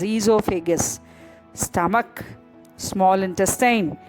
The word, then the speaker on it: esophagus: It is not oesophagus, it is esophagus.